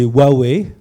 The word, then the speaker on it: Huawei: Alors rapidement, déjà, c'est Huawei, la prononciation, pour ceux qui sont intéressés.